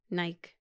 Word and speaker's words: Nike: like for example Nike so if someone is named Michael how would you call the person Michael short for Michael Mike okay take the M out now put an in Nike that's the way the brand should be and that's the